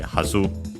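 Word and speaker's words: はず: An accented by the way. Hazu.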